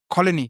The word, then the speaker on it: Coligny: The small agricultural town of Coligny, I hope I pronounced that correctly. Colony. Yeah, it's a silent G.